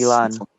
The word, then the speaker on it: Ilhan: Imam Omar was caught ballot harvesting in Her first name is Ilhan, yeah, Ilhan. It's Ilan. it's a cool pronunciation of a foreign name.